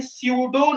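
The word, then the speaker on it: pseudo: हम लोग बोलते हैं स्यूडो नाइट्रोल। स्यूडो, पी एस ई यू डी ओ, जिसमें पी साइलेंट है।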